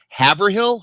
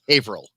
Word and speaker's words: Haverhill: And a city that my brother lives in is if you pronounce it the way it's spelled, it's Haverhill. It's actually pronounced Haverhill.